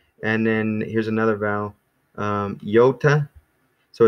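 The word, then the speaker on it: iota: then here's another vowel yota so it's like Yatta Yatta Yatta it almost is almost comes across when I say it fast yota it sounds like there's a Y in there so that's how I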